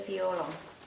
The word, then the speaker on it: violon: Yeah, it's the violon. The OE is pronounced OA.